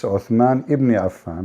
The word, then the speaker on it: Uthman ibn Affan: Cairo You know, she said the name wrong. It's Uthman ibn Affan, but it's okay.